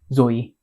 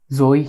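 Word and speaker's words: ζωή: Oh, dari Ibrani di sana the Greek word tuh for life tuh Zoe. I think I pronounced it right.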